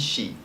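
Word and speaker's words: し: at is four now four is a little different because it has two different pronunciations yon and she she is considered bad luck because it's very close to the Chinese pronunciation of death so we use yon more than we use she a lot of the time unless you're being told otherwise Y is written as such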